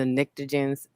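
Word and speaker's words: pnictogens: real technical name called the the niktogens it's a silent p in the front of that okay but these are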